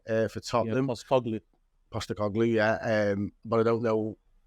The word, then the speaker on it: Postecoglou: Yeah, Postecoglou, yeah.